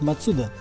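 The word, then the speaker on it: マツダ: Тут, кстати, в небольшом поселке Фучу располагается штаб-квартира автокомпании Mazda. По-японски, кстати, правильно говорить Мацуда. Как говорил Матроскин, это фамилия такая.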